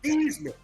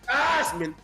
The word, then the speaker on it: Theismann: People don't understand the original pronunciation of his name is Theismann. Yep. They changed it to Theismann to rhyme with Heisman.